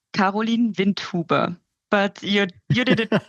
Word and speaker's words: Karolin Windhuber: for all of us how do you pronounce your name in a proper German accent um it's koline Vint tuber but you you did